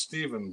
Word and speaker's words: Stefan: i don't know it's pronounced stephen but spelled stefan okay stephen sorry stephen